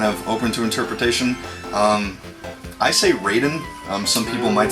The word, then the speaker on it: Raiden: some people might say Ryden I would say Raiden I say it's Raiden because it's spelled the same way that the character in Mortal Kombat spells his name and we always call